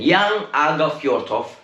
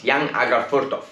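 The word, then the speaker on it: Jan Åge Fjørtoft: gentlemen this is interesting young agha fjortoff let's pronounce the rightful ones young agar furtoff he works for espn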